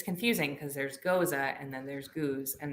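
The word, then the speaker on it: gose: first started the podcast i said ghosts not goza i know better well it's yeah it's confusing because there's goza and then there's goos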